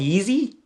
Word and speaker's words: Yeezy: Yeezy?